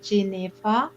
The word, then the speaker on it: Jennefer: my name jennifer jennifer it's actually pronounced j neva because whenever i speak